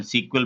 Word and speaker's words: SQL: आज मैं एसक्यूएल से रिलेटेड एक इम्पोर्टेंट वीडियो आपके सामने लेकर आया हूँ। एसक्यूएल जिसको कुछ लोग की प्रोनाउंसिएशन सीक्वल भी बोल देते हैं, जो कि बैकएंड में